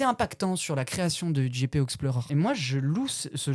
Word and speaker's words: GP Explorer: est incroyable, c'est le GP Explore 3. Quand je tellement mal prononcé, Gatu. Hein. Mais non, c'est le GP Explore 3. Explorer. Ah, et pardon, GP Explorer 3.